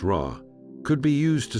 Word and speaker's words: Ra: That same sun disk, pronounced Ra, could be used to spell out parts of other words.